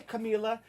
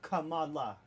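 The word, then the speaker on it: Kamala: He said, "Hey, Camila." She's like, "No, no, no, bro. Let me tell you. I wanted to tell you for a while. It's pronounced Camala."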